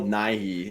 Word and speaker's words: Nighy: Not Bill Nye. Bill Nighy.